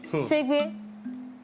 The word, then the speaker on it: Segbe: Alors, CB s'écrit comment? S, E, accent aigu, G, B, et E. Segbe.